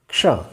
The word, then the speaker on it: क्ष: हल्की सी क की आवाज़ आनी चाहिए। क, चूंकि हलंत है, आधा है, इसलिए हल्की सी आवाज़ पहले क की आनी चाहिए और इसके बाद मूर्धन्य श आना चाहिए और इस तरह से क्ष, क्ष।